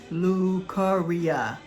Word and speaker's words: leukorrhea: Okay, so it is pronounced leukorrhea.